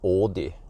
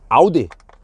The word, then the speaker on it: Audi: on it just like it is not Ai No it is Audi Audi yeah and it's not